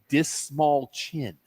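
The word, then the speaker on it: Dastmalchian: And the way he says the way to how to remember to pronounce my last name, Dismal Chin.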